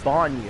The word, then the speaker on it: Bonyu: Oh, you pronounce it as Bonyu. Okay. Like Bonyu Billy.